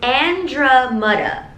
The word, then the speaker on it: Andromeda: They also have a pronunciation of their name, but on Instagram, the way I would say it is Androhmeda, but it's Andromeda.